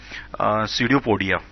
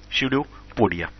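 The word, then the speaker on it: pseudopodia: पादाभ को इंग्लिश में बोलते हैं हम सीडियोपोडिया, PSEUDO PODI ए, सीडियोपोडिया इसको हम कहा जाता है, पी साइलेंट होता है इसमें।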